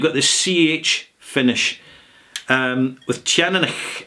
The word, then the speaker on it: Teaninich: The way I pronounce it is Teaninich.